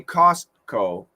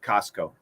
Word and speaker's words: Costco: You could say Costco with a stop T, but when we say it fast, we cancel the T. Costco.